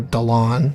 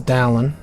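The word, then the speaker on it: Dalan: Or Dalon, rather. But they don't pronounce his name as Dalon, even though that's his name. They pronounced it as Dallin, because this was voice acted by racist white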